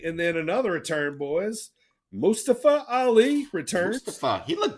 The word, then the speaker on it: Mustafa Ali: announcer all of them said Mustafa Ali's name wrong Mustafa it's Mustafa now yeah but that's what